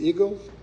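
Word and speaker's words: Eigel: Is that means eagle or e? How do you pron pronounce that? Tell us how do you pronounce e i g e l. Eagle. Eagle. Like the one you fly.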